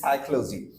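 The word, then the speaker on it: psychology: দেখি যেরকম সাইকোলজি সো পি এস থাকার কারণে মূলত পি এর উচ্চারণ সাইলেন্ট হয়ে যাচ্ছে সো এক্ষেত্রে আমরা বলছি সাইকোলজি এনাদার ওয়ান চলে আসি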